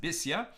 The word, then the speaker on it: Bisya: And these are the sons of Bisya, the daughter of Pharaoh, also called Basya usually, but here it's pronounced Bisya, whom Merid took.